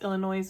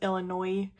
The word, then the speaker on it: Illinois: And I know that sometimes pronounced Illinois with an S and sometimes Illinois silent, depending on who you ask.